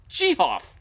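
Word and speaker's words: Gehoff: but he insisted that his name was pronounced jihoff he was a very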